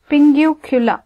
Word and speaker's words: pinguecula: start off with this Pingu cooler right how do they pronounce this listen to the pronunciation Pingu Killa okay so basically in